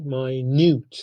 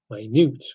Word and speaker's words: minute: Stress changes to second syllable. And even pronunciation, we pronounce it minute. You see, minute. The stress is on second syllable. Minute, it means very small.